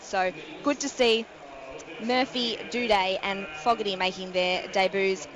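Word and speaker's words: Doedee: the Adelaide side and Tom do de that's exactly how you pronounce it guys do day and he is the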